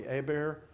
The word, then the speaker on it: Herbert: If you're from North Alabama, it's Herbert, and if you're from South Alabama, it might be Hebert, and Colonel William Hunt of Louisiana, Secretary of the U.S.